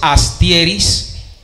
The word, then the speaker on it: Astierys: mi estimado amigo cuéntales cómo es que se pronuncia buenas noches a todos Mi nombre es astieris vengo de Barranquilla llevo ya cuatro años aquí